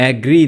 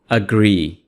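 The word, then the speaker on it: agree: आई अग्री आई एग्री यह एग्री नहीं है इसको आप पढ़ेंगे अग्री आई एग्री मैं मुत फिक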